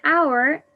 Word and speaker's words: hour: a an hour in hour the letter h is silent so i have to